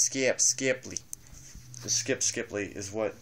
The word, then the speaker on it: Skip Skipley: It's pronounced Skip Skipley.